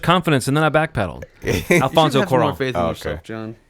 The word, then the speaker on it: Cuarón: How do you pronounce this director's name? Alfonso Cuarón.